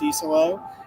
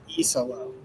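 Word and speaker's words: Iisalo: Tomas Isolo. E as in the letter. Yes. Well, and the thing about it is those 2 I's right at the start really kind of throw you.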